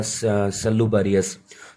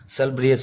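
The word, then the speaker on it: salubrious: जैसे कल मैंने एक वर्ड मान लो आपको दिया सल्लूबरियस, तो सल्लूबरियस का मतलब मैंने स्वस्थ बताया, तो उसका एक्चुअल प्रोनाउंसिएशन तो दोस्तों आपका ब्रियस होता है, सल ब्रियस होता है।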